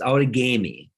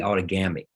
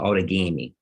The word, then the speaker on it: Outagamie: to butcher this word, Outagamie? Close. It's Outagamie. And actually, the phonetic pronunciation is supposed to be Outagamie. But this is Wisconsin. We like our long A's. So Outagamie.